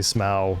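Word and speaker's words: Smough: dual boss fight okay Ornstein and smoff I say small if a lot of people say smell no one can agree how to actually pronounce his name um they they're they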